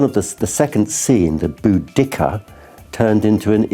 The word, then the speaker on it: Boudicca: Boudicca is wrong. It should be Boudicca.